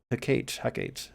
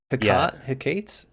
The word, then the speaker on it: Hecate: Hecate. It's not Hecate. It's not Hecate. It's definitely 3 syllables.